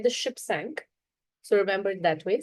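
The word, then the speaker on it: cinq: Five is sank. Sank. You can remember it. like the ship sank.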